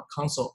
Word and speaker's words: consul: 这两个词发音是一样的，consul 跟我们刚刚那个是一样的啊。